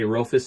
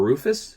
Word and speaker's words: Rofis: It does say Rofis on the side, or Rufus, either way you want to pronounce it.